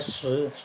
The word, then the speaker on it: 识: 读音那个识是认识那个识，意识那个识，他们念成第二声了，是第四声，是认识的是，意识的是。